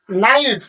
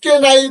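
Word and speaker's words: knife: টি নট কে এন আই এন এফ ই নাইফ আমি কিন্তু কে নাইফ কিংবা ক নাইফ এ ধরনের কিন্তু ভাষা বলি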